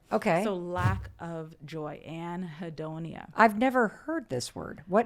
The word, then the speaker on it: anhedonia: Anhedonia. Anhedonia.